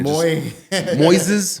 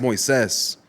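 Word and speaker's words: Moisés: being white every day they would mispronounce my name and Moises Moises mazes like any way you can mispronounce my name they just couldn't say it and I would have to have like this I will start off in bad turns with every teacher like no it's Moes can we call you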